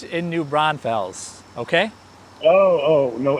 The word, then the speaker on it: New Braunfels: Is that how you pronounce it? Yeah. New Braunfels.